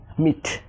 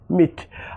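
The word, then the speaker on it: meat: অর্থাৎ এমই এটি মিট। মিট।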